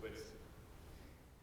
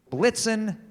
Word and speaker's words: Blitzen: made sure it had Donner and Blitzen. Dunder and Blixen, 1830, excuse me. Donder and Blitzen. Donder and Blitzen does, in your immense poetical taste, Blitzen rhyme with vixen?